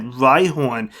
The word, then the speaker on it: Rhyhorn: taking a look at rhihorn yes i said it right horn not rydon now i do think